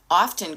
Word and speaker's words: often: And if you if I say a word so often, and often could be your word, and I've said it three times already, and I've noticed I do pronounce the t.